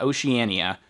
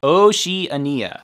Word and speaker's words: Oceania: the asia and oceania i looked at the pronunciation it's not oceania oceania oceania asia oceania 20 minutes later oh she ania the pc01 is sold